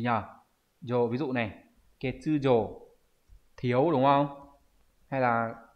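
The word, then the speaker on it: 欠如: Ví dụ chúng ta sẽ có những từ đọc là gì nhỉ? Yo, ví dụ này, ketsujo thiếu đúng không?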